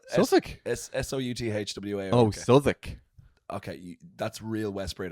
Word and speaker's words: Southwark: If you say that, it's like saying 33. You can't be saying saying Southwark. it correctly. People will make fun of you. But like, So you just need to accept it, swallow your pride, and say Southwark.